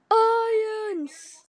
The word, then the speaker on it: iance: It's pronounced iance.